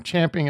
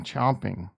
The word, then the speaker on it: champing: champing at the bit no the correct way to say it's champing it's champing at the bit is the correct way to say it over the course of history people started saying chomping go Google it [